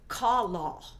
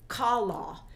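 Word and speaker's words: כָּלָה: As we click on that, it is the word kalah, kalah. It's spelled K-A-L-A-H, but it's pronounced K-A-W-L-A-W, kalah.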